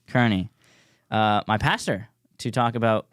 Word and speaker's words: Kearney: Yes, yeah, Kearney. Kearney, my pastor, to talk about Rule 11 of the 12 Rules for Life book by Jordan Peterson.